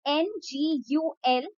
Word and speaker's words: ngultrum: I'll just spell it out for you guys. That will be better. It's NGULTRUM, which is Indian rupee or Indian rupee, and national sport is archery.